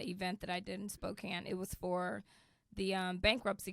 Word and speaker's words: Spokane: Yes, I just came from Spokane, Washington, and I realized that I was mispronouncing it. I was going Spokane, but yeah, Spokane.